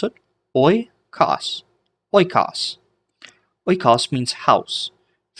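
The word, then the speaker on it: οἶκος: So instead of hoi, it's pronounced oi.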